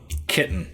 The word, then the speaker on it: chitin: inside it is but apparently splendor is called chitin it's pronounced chitin kitten you're called kitten bucks they've got the nerubians